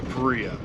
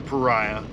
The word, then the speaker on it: Paria: gonna head down to Berea or pariah they say it's pronounced either way because there's two different spellings so we're going to